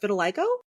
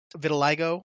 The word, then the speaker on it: vitiligo: Hulk got vitilgo and I think it's pronounced vitiligo. Vitiliggo. I'm not sure. I've only my god I've only seen it spelled out in in print. I've never really heard it pronounced.